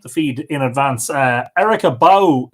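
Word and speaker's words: Bauch: Erica Bow says, howdy from Cibolo in Texas, between San Antonio and Austin. My last name is pronounced here in Texas as Bow, like Bow Wow.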